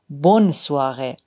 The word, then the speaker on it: bonne soirée: En revanche, dans bonne journée et bonne soirée, le N est bien prononcé. On dit clairement bonne journée, bonne soirée.